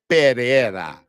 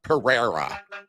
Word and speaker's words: Pereira: And that's how you pronounce that word, Pereira, not Pereira. You got to roll the Pereira. Got to get that tongue rolling.